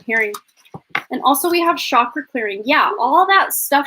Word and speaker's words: chakra: trying to re-learn and re-teach myself to say chakra because that's the correct way to say it but i've always just in my head said chakra um but it says